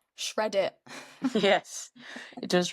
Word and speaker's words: Reddit: have heard of, called Reddit. Does it remind? I was gonna say, does it rhyme with shred it?